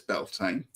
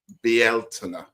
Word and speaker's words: Beltane: Well, everyone says Belain. That's fine. It's now being claimed to be more Celtic as Belina. Okay. So, I'm going to try that one. You know, like to try and improve things. So, be out and know, but Belain works just the same.